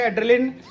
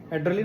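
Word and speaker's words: adrenaline: एक है एक है एड्रिलिन स्पेलिंग पे मत जाना एड्रिलिन और दूसरा है कॉर्टिसोल।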